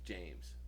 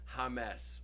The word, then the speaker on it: James: guy that works with me his name is James right and he goes my name is James black guy say my name is James but everyone's calling me Hames or yames and I'm like what kind of name is